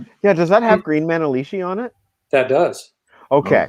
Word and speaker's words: Manalishi: of course, Hellbent for Leather, the green Manalishi.